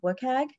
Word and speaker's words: WCAG: reference the Web Content Accessibility Guidelines, which is pronounced WCAG.